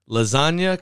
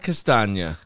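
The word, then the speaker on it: Castagne: i give you a little help on the pronunciation for that lasagna castagna castagna okay very good that's how i go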